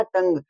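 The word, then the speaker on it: tongue: इसमें देखो यू के बाद में क्या आ रहा है? इ आ रहा है। तो यहां पे यू है वो साइलेंट हो गया और हो गया टंग।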